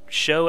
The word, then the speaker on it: SjoW: experience but he did show some incredible play in this tournament and I did just use the word show and his name is pronounced like that so it's almost a